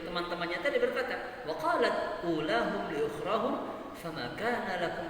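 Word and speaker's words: أولاهم: Tidak dibaca ulahum tapi ulahum. U-nya tetap dibaca panjang.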